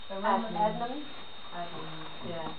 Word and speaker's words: Adnams: Adnams.